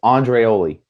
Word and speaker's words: Andreoli: It's Andreoli. That's how it's pronounced.